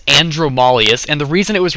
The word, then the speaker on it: Andromalius: as it is um a lot of people don't know how to pronounce the name it is andromalius and the reason it